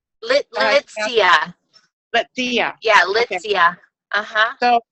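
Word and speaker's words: Litsea: I want to know more about the two new oils, the Manuka oil, and you pronounce it Letzi? Litzia.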